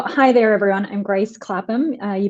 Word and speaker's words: Clapham: Rishad was like, "You're pronouncing her name wrong." Clapham. I kept saying Kaplan?